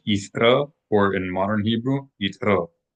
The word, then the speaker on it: Yitro: verse 22, Parashat YITRO, not to be mispronounced as YITRO. That's an example of applying the conventions of English onto the Hebrew language. So we need to be careful not to apply the practice of pronouncing TRs in English onto Hebrew, in which case you transform the correct pronunciation of the tal or thal from a ta or a tha into a ch sound like ch as in cheese. So not yitro, but yithra, or in modern Hebrew, yitro.